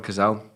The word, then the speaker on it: Cazale: Didn't mention his name, John Cazale. That's how you pronounce it.